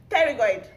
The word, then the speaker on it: pterygoid: Spell pterygoid. Pterygoid. Pterygoid. Pterygoid. That's it. Spell it.